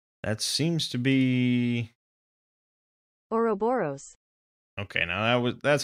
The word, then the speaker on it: Ouroboros: The head is adorned with an Ouroboros. Whoa, I've never heard it pronounced like that.